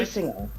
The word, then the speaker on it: Basinger: Basinger.